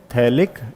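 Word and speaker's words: phthalic: हम लोग क्या बोलेंगे, पी को साइलेंट रखते हैं, उसको बोलते हैं थैलिक एसिड, पिथैलिक एसिड, ठीक है।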